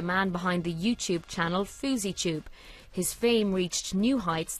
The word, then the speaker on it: FouseyTUBE: It's actually FouseyTUBE.